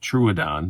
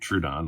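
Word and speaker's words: Troodon: haven't done one before i guess it is pronounced truadan not true don like i'd always been saying so here's the knife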